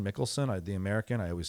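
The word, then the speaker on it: Michelsen: Um, the semi-final was Medbedv versus Michaelelsson. Mickelson. I the American. I always say his name wrong.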